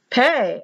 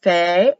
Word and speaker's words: Pe: Pay or Fay. F like in Phyllis.